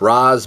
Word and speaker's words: Ra's: I think they say Raish in the video game. Any of you English scholars out there can figure out the accent, where I think it's actually supposed to be pronounced Ra's, but I guess it depends with who says it and however.